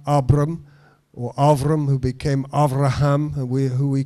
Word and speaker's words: Avraham: you count those stars avraham i'm giving you good jewish pronunciation and and avraham says no god i